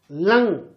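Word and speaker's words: लङ्: कई बच्चे इसका उच्चारण थोड़ा गलत करते हैं। ये ड नहीं है, ये क्या है? लंग। इसको पढ़ेंगे लंग लकार।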